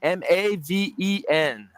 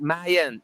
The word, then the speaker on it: Maven: Maven. M-A-V-E-N. Like Maven. Maven. It's like Mayan. M-A-Y-E-N. But it's Maven.